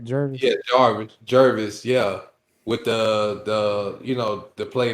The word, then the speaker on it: Jervis: yeah, Jervis.